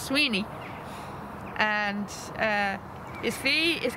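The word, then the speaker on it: Mac Swiney: s w i n e y like it's pronounced mawani but it's actually pronounced maeni and uh his fee is going to be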